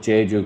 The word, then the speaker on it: Jaeju: Well, the whole idea first with Jaeju, because Jaeju means skill in Korean, like it's like A-E instead of I-E. Like you have Jeju Island, but then you have Jaeju, it's spelled different, same pronunciation.